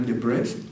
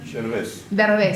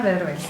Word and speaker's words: Derbez: We're going to premiere a clarinet concerto by Georgina de Brest. How do you say? I don't mean to say their name wrong. No. Georgina Derbez. Georgina Derbez.